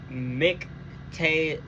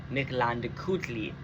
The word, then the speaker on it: Mictlantecuhtli: Mictlantecuhtli, I think, because I'm pretty sure you're not supposed to pronounce the L at the end of it.